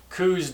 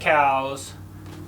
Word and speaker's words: Coues: We all know that Coues deer are named after Elliot Coues, who was a physician for the Army, and so we should be pronouncing them Coues deer.